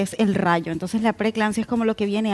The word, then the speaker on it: preeclampsia: Qué bueno que me preguntes eso, porque la preeclampsia, ya comenzando Preeclampsia. por el nombre, es complicado, ¿verdad? Preeclampsia. Tiene dos E.